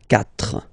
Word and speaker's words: quatre: So you get this Q, U, A, but then the sound that you will pronounce is K, okay? Quatre, quatre.